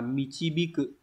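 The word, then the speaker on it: 導く: Đọc là michibiku.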